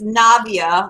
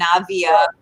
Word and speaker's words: Navia: It's as everyone always asks, it's Navia, like Nadia, but with a V, Navia, instead of Navia, because a lot of times people ask about the pronunciation.